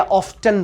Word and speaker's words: often: अब इसे ऑफन पढ़ा जाए या ऑफ्टन पढ़ा जाए। पहले इसकी हिंदी मीनिंग समझते हैं, इसका क्या अर्थ होता है। इसका अर्थ होता है प्रायः। इसका अर्थ होता है प्रायः, जिसे हम और भी एक कॉमन हिंदी में बोलते हैं अक्सर। तो अब देखते हैं इसे ऑफन पढ़ें या ऑफ्टन पढ़ें। फिर आपको जानकर आश्चर्य होगा, ये ऑफन भी सही है, ये ऑफ्टन भी सही है।